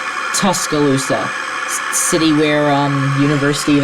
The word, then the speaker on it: Tuscaloosa: the way I found out it it's actually pronounced Tuscaloosa it's not taloa Tuscaloosa City where um University of Alabama is all